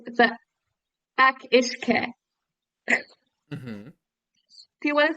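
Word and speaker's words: each-uisge: Akishke? Akishke. Yeah, it's spelled like each wheeze G.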